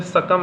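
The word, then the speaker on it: succumb: जैसे कि मान लीजिए सकम है। सकम बी लेकिन यहां पे यूज़ हुआ है। बी यहां पे क्या है? साइलेंट है।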